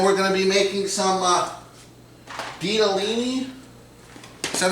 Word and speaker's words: Ditalini: spinach, and then we're gonna be making some Ditalini. Is that how you pronounce it, Monica? Ditalini.